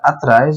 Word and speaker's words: atrás: O emprego do acento gráfico na palavra atrás, ó, atrás, sílaba tônica, então ela é uma oxítona.